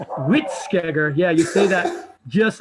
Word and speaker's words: Hvítskeggr: English from Old Norse it's like wheat it's like saying wheat then everybody see that Family Guy episode where Stewie is saying Krispy Kremes cool oh good this is how you say it yeah it's quick wit scare yeah you see that